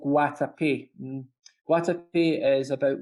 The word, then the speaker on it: Guatapé: How do you pronounce it? Guatapé, Guatapé.